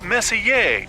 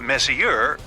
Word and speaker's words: Messier: Pronounced Messier, not Messier, as in, is your room messier than mine?